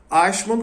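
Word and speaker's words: Eichmann: que é brasileiro pronunciar porque tem um C no meio né é um som palatal que não existe em português mas enfim vai a mesmo se for errado os Os Germanos nativos quem tem alemão como língua Nativa perdoe aqui a minha pronúncia ashman conseguiu fugir para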